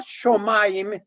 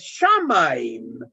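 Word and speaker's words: שמים: Hay otros, es no shomaim, es shamaim.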